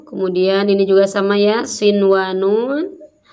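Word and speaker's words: صِنْوَانٌ: Kemudian ini juga sama ya, sinwanun tidak boleh dibaca siwanun.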